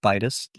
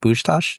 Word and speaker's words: Bas: right well yeah my my last name is pronounced Bas like a b butter in a Castle it's actually Hungarian and the Hungarian pronunciation is a little bit more it's pronounced Bach so but to avoid all